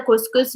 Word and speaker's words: couscous: We write it as a couscous, but this is how we pronounce it. We say couscous.